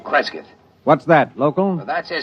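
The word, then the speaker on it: Cresgyth: as um well, I'll I'll spell it. It's c r e s g y t h, Creskyth.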